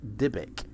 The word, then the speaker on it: Dybbuk: It's a box that used to catch evil spirits, pronounced Dybbuk.